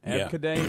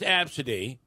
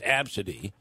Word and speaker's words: Abcde: Abcade, is that how you would say It's pronounced Absidy.